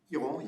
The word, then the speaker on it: Piron: Piron or Piron? How do you pronounce? Piron, yes. Piron.